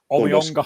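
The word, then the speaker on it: Omeonga: The one that I'm debating from a Livingston perspective more is the sending off for Omenioga. Is that how you pronounce it? Omenioga? Omiyonga.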